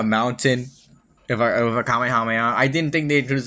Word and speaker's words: Kamehameha: It's Kamehameha and you can't f you cannot say it's not. I'm sorry. It is the only correct pronunciation of that.